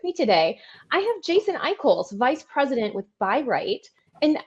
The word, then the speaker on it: Eichholz: lesie Perry with me today I have Jason iol vice president with byright and I didn't checked before we started recording that is the correct pronunciation of that is yeah Jason I call that's my name yeah you did good my